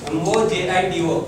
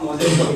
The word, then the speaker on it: mojito: MOJITO. Can anyone pronounce it correctly? It's not mojito, it's mojito. J should be pronounced as H.